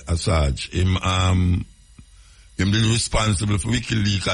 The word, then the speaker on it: Assange: Julian Assange, I saw him pronounce his name, Assange. Yeah, Assange.